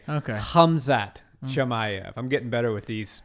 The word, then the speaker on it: Khamzat Chimaev: I pronounced the K. It's a soft K. Okay. Khamzat Chimaev.